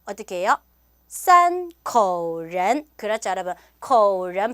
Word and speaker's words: 口人: 이때는 어떻게 발음해야 돼요? 口人 이렇게 발음해야 된다.